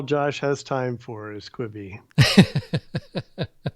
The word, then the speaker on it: Quibi: just that all Josh has time for is kwibi all right so let's move on from kwibi